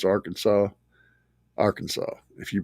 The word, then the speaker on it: Arkansas: You have to pronounce Arkansas Arkansas.